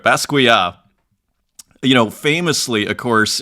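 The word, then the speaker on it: Basquiat: fixing my pronunciation what what I was calling basquet maybe that's a North American pronunciation there but basua you know famously of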